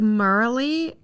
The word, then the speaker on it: Marilee: No, it's like Marley, but it's spelled kind of like Marilee.